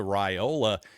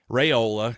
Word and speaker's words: Raiola: high school prospect profile to Ryola, Raiola, excuse me, I always mess up that pronunciation.